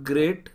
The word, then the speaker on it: grate: ठीक है, next question, statement 1, ग्रेट और ग्रेट द कैरेट into small pieces. देखिए प्रोनाउंसिएशन सेम है, ग्रेट और ये ग्रेट, GRATE GREAT।